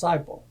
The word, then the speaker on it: Seipelt: is ciple and the way that is spelled is s i p l t pronounced cypel I was born in